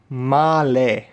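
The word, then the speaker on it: Malé: of the Maldives called Male. It's like basically male with a pronunciation mark on the E, like this, not like this, otherwise you're going to trigger people.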